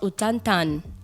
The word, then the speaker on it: Ota Tanga: Donc, c'est écrit Ota Tanga. Moi, on m'a fait comprendre qu'on prononce Otantan.